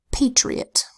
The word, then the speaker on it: patriot: at three more examples we have Patriot so here this first syllable is pay spell PA second syllable tree spelled t to sate hard to say I to make a long sound e and then ot o makes a schwa sound ah and the T says pay tree but next word medium